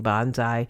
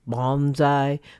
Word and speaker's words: bonsai: Actually, I'm mispronouncing bonsai. It's supposed to be bonsai, but I think everybody gets what I'm talking about.